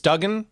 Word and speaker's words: Duggan: It's Duggan? Is that how you say it? Yeah, I say Duggan.